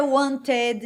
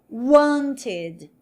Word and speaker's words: wanted: Então, se a gente tem aqui want, ó, want, eu não vou dizer wanted, não. Eu mantenho a mesma sílaba, ó, wanted, wanted, tá?